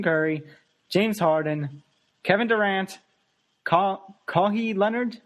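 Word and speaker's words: Kawhi: James Harden Kevin Durant Co CI Leonard I believe it's pronounced kawh Leonard kawhai okay kawh Leonard and Anthony Davis see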